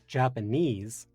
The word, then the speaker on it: Japanese: receives the stress and if I say japanes then the stress is on the knees japanes and that's also